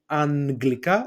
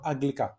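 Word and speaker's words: Αγγλικά: The same also with anglika or aglika.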